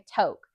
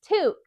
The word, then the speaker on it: toque: So that is our name for a beanie and it's a French Canadian word which is kind of like why it's not necessarily pronounced how you think it would be pronounced.